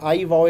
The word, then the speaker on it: iVOW: फिनॉम्स ये हैं कि भाई आप ना कोई ख़ास प्रोनाउंसिएशन बुलवाना चाह रहे हैं, तो जो मिसाल के तौर पे जैसे एक आई वाओ एक कंपनी है जिसके लिए मैं कुछ अरसे